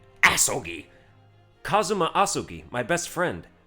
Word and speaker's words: Asogi: Kazuma Asugi. Okay, don't say it like that. Asogi!